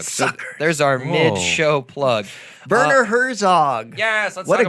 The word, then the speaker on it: Werner: Werner Herzog. Yes, let's What talk a great name. Werner. It's very German. Werner's? very German. Well, yeah, Werner. My name is Werner. It's pronounced with like a V. Werner.